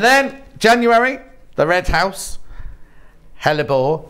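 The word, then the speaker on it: hellebore: January the red house hellebor now I was calling these Helia boards and the ladies were messaging center saying it wrong that Christmas roses let's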